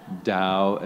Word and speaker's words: Tao: brother by the way Dao is spelled as Tao but you know these